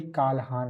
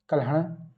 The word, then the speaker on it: कल्हण: ये लिखी है कालहान ने। ठीक है? इंग्लिश में हम काल प्रोनाउंस करते हैं। हिंदी में कल्हण प्रोनाउंस करते हैं।